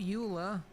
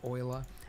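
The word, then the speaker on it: Euler: Rotate not ul. Yes, I know they went with the weird pronunciation.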